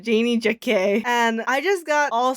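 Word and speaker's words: Janey Jacké: Janie Jack for doing James Charles. First of all, it's pronounced Janie Jacquet.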